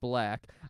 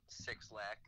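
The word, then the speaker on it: 6lack: That's, his name is Black. It's pronounced Black. I was, nope, it's six lakh. No, it's not. Six lakh.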